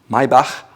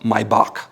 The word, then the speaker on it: Maybach: It's called Maybach with a H. Maybach, not Maybach.